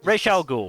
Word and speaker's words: Ra's al Ghul: All right, Ra's al Ghul.